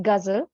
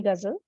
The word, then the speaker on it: Ghazal: moderator also so uh it's guzzle simply please uh call me Ghazal and if you want